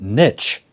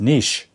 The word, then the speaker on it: niche: the US pronounce it Niche yes which to me sounds crazy because it's a French word it should be pronounced Nish that's right we don't